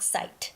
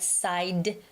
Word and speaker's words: side: Not site. It's right side. D. It's D.